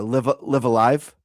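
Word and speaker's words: Live A Live: way that they brought uh was it uh live Alive?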